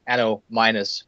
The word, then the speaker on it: Annominus: back to the beginning so yeah ano minus but uh but of course that's the Danish pronunciation so uh so yeah